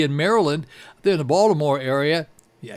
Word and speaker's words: Baltimore: Yeah, you got to say it like that. It's Baltimore. No, it's not Baltimore. That's the way people not from there say it. The people who are from there say Baltimore.